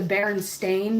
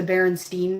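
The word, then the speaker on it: Berenstain: like you know Baron how they say it's the Baron Stain Bears, but really everybody remembers it as the Baronstein bears for some reason.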